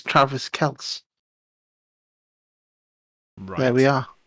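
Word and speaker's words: Kelce: all the time and it's not kell c it's just kels and it's spell as in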